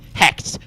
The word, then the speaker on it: Hect: is it camilla hacked hect to rhyme with wrecked this is great more